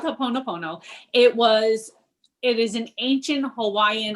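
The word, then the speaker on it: Hoʻoponopono: Well, speaking of getting into people's head, let's talk a little bit about Haponopono.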